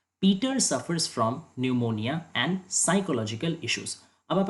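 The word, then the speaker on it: pneumonia: यहाँ पे जो न्यूमोनिया है, यहाँ पे भले ही पी स्पेलिंग में है, लेकिन इसका प्रोनाउंसिएशन में पी का कोई पार्ट ही नहीं है, इसका उच्चारण है न्यूमोनिया। बिल्कुल हम लोग इसको पी न्यूमोनिया, पन्यूमोनिया ऐसे नहीं बोलते, इसको न्यूमोनिया बोला जाता है।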